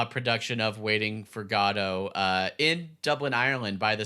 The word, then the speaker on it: Godot: definitely read Waiting for Godot which I found out that is the that's how they pronounce it in Europe which to me I think makes it the official pronunciation so it's not good dough which is what I